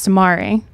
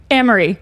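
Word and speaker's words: Amiri: But I asked Amari, Emery, sorry. It's spelled Amari, so I'm going to say it wrong forever.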